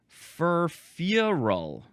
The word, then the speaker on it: furfural: Now here is that word, furfural. You got to emphasize the first syllable and then a little bit the last syllable.